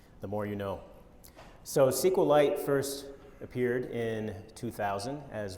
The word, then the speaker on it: SQLite: richard hip be the creator of sequel Lite on a YouTube video this is the supposedly the the correct pronunciation SQLite now that's great I respect and admire dr.